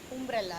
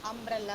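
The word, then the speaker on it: umbrella: அம்ப்ரெல்லா first letter வந்து யூ, ஆனால் நம்ம சொல்லும்போது ப்ரொனவுன்ஸ் பண்ணும்போது அம்ப்ரெல்லா ஆ சவுண்டில் தான் வரும். அம்ப்ரெல்லா, இட்ஸ் நாட் உம்ப்ரெல்லா, right? உம்ப்ரெல்லான்னு நம்ம சொல்ல மாட்டோம். அம்ப்ரெல்லா இஸ் the correct pronunciation. So யூவில் start ஆகும், ஆனால் ப்ரொனவுன்ஸ் பண்ணும்போது அந்த ஆ சவுண்டு வரும்.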